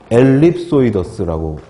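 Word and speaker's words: ellipsoideus: 엘립소이더스라고 읽습니다.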